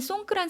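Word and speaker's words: สงกรานต์: 태국식으로 송크란 이렇게 발음하는데요. 4월 13일에서 15일, 우리나라랑 마찬가지로 3일 동안 연휴를 길게 가지고 갑니다. 그런데 태국에는 이 송크란 설날 이외에도 다른 설날들이 있어요.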